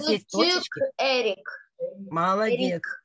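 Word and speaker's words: erik: Эрик. И ударение на последнюю.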